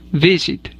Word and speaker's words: visit: última consonante por ejemplo el verbo visit tiene el acento en la primera sílaba visit y visiting quedará escrito